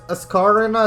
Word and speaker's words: Ascarina: I guess you can pronounce it Ascarina as well, because it's like the Ascari chicane in Monza, which you can see very shiny, very nice looking, and it's also very simple.